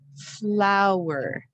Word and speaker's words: flower: Next word is flower. And you want to say it as two syllables. It helps you really hear the sounds if you make it a distinct two syllables.